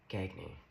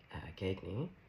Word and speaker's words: Gagne: So, a psychologist who's a diagnosed sociopath, her name is uh Patri uh Gagny, I always want to put the G, but she pronounces it gagy.